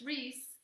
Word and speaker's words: Reese: is spelled, and then it's Reese, like Reese's cups.